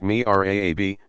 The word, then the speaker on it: mihrab: like that of the mihrab pronounced me RA a B niche and somewhere in